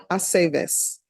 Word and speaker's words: Aceves: I never know what to do with the V's either. With what, ma'am? The V's, Oh, in the the V's, names to yeah. pronounce it correctly. It's always ve. Bay, Aceves.